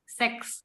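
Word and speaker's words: sechs: Angka enam ini dalam bahasa Jerman itu seks. Jadi si ch-nya ini dibaca seperti he seks.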